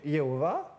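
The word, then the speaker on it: Jehovah: Alors, c'est compliqué à prononcer YHWH. byari bigoye cyane gusubiramwo iri jambo vuga ngo Yawe. Alors, c'est pour ça qu'on peut dire soit Yehovah ou soit Yahweh.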